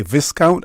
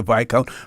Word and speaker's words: viscount: recognize it those older folks if I say viscount as opposed to V count because we used to used to pronounce it as viscount as they